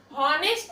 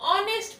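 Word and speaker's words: honest: देख रहे हैं कि इसको हम हॉनेस्ट नहीं पढ़ते हैं, हम क्या पढ़ते हैं, ऑनेस्ट पढ़ते हैं, क्योंकि एच जो है वो साइलेंट है।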